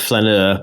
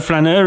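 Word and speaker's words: flâneur: be a mispronunciation of flaneur, because I've not said that word before. No, flaneur is it comes from the French word flâner, which means to stroll.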